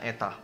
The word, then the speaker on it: Eta: surya memiliki efisiensi Eta ini kita bacanya Eta atau efisiensi jadi memiliki efisiensi Eta